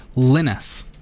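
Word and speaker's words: Lynis: that so we're just going to go install linus and it's spelt a little bit differently than you would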